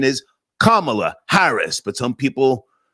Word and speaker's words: Kamala Harris: Also guys, Camala Harris or Kamla, whatever you call her, the correct pronunciation is Kamala Harris.